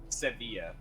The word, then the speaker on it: Sevilla: it's amateur stream true sevilla so pronounce the v but not the uh i ll okay but and then